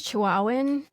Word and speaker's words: Chihuahuan: I think it's Chihuahuan.